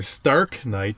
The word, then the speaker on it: Starknight: So, that is the Star Knight or Stark Knight, depending on how you want to pronounce it.